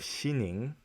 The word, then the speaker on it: Xining: nijing in the east to the city of xining it's spelled x i and ing in western china